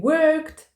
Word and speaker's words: work: можна використовувати в різних часах he Works We worked We are working слово Job не може бути